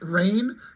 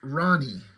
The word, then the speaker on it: Rahne: So I think it's pronounced Rain, but I always thought, because just when I was younger, I don't know, I thought it was pronounced Ronnie, like R-A-H, like Ra and then knee or something like that, Ronnie.